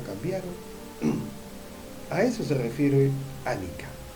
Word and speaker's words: anicca: La primera de ellas es la referida a la impermanencia, que se denomina anicca, que en lengua pali es anicca, se pronuncia anicca.